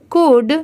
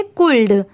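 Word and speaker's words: could: अब जैसे देखिए यहां पर तो एल भी दिया हुआ है बट यहां पर एल की साउंड नहीं आ रही है। यहां पर जो लिखा हुआ है अगर हम उसे प्रोनाउंस करें सी ओ यू एल डी तो इसे हम प्रोनाउंस करेंगे कुल्ड। कुल्ड। ठीक है? बट इसे हम यहां पर क्या प्रोनाउंस कर रहे हैं? कुड। सी ओ यू डी कुड। यहां पर भी एल लेटर साइलेंट है।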